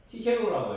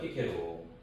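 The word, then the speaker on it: Cicero: 어 키케로라고 해요. 키케로 어 그러니까 이제 발음이 너무 너무 다르죠.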